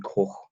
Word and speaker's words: Koch: They've signed centre back from Freiburg, who I am led to believe you pronounce this Robin Koch.